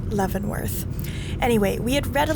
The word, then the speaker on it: Leavenworth: town that we later found out is actually pronounced leavenworth anyway we had read a little bit about